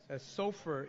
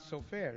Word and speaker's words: Sofaer: Sofer is not so fair.